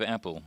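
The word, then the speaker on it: Appell: another man named Dave apple he is spelled Appel but it's pronounced Apple Dave had a career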